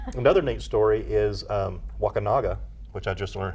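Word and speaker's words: Wakunaga: come from um another neat story is um wakinaga which I just learned how to pronounce properly yeah it's not wakanga yeah Waka wakas that sounds a lot worse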